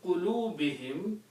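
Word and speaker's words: قلوبهم: And for the purpose of tajweed and recitation, we pronounce this dhamma also as a kasra. Okay? So it's easy on the tongue. So the word becomes fi qulubihim, in their hearts.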